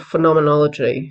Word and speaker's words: phenomenology: talk about something called phenomenology if you can't say it think of the muppet show phenomenon phenomenology it's the only way I could figure out how to say it anyway whole philosophical